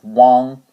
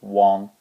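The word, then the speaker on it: wang: could even have like Wong Wong is really U but instead of spelling it u n we spell it w a n g for Wong okay I hope that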